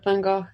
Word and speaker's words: van Gogh: another van gogh uh van gogh um i'd never know how to say his name yeah i go van gaal my other one yeah